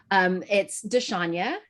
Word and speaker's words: Dshanya: You are consistent with the way that you pronounce it, even though it's slightly incorrect. And that's okay because it's close. It's Dshanya.